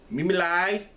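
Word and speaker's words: Me Me Lai: The next one um stars uh I can't even pronounce some of these people. Mimi lie. Mimi lie is how you say Mimi Lie.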